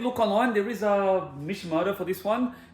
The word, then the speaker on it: Mishimoto: There is a Mishimoto for this one. It's that's the brand. That's how you pronounce it.